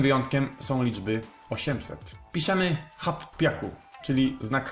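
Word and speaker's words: 八百: Hap Piaku. Ogólnie z ósemką jest tak, że nie robimy z tego Hachi, tylko samo H. Czemu są takie wyjątki? A po to, żeby łatwiej się to wymawiało.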